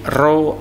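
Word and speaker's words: ρ: F sama dengan 1/2L akar F dibagi rho A. P seperti huruf P itu rho bacanya ya, massa jenis artinya.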